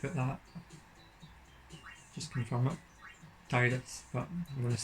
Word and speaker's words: Tidus: So his name, Americans I think pronounce it Tidus, but I've always said Tidus, and that's Tidus is just what it is to me because I guess I'm Scottish, so.